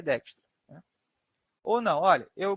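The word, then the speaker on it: Dijkstra: a gente apresenta então ele se escreve assim né digra se fala dextra eh então sempre pros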